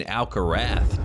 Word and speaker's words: Alcaraz: You pronounce it in Spain, Alcarath. Uh, so everyone in Spain is saying it's the Alcarath uh that is coming right now.